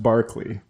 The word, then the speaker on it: Berkeley: It's a long, like I said, I didn't know until later that Berkeley is pronounced Barkley.